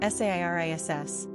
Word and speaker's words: Ceres: Pronunciation, Sairis.